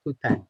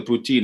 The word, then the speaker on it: poutine: I want to hear about poutine."